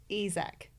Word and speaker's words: Isack: Yes, Isaac says Isac. But I think I need to try and train my brain to say it as that to kind of